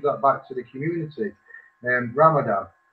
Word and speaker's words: Ramadan: Ramadan, pronounced Ramzan, fasting during the month of Ramzan before sunrise to after sunset.